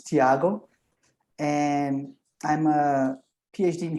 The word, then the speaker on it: Thiago: o'clock here um yes the pronunciation is perfect it's thiago and i'm a phd